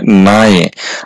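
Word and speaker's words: 나의: আর যেহেতু না এর সাথে উই আছে এজন্য এই শব্দটার উচ্চারণ হবে নায়ে।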